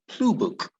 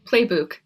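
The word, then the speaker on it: Plebuch: of information okay uh oh alice collins uh blue book is that am i pronouncing that word her name right no it's close it's play playbook playbook okay uh so is that an irish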